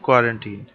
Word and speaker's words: quarantine: इसका correct pronunciation है क्वारंटीन।